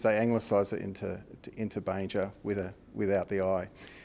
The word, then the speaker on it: Banger: how to pronounce it it's not Banger it's Banger and you had a